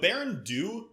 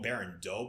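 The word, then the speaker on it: Baran Do: And the Berendu, there's a lot of different pronunciations. I've heard a lot of people call them Berendu. I just call them Berendu because it's spelled D-O instead of D-O-E.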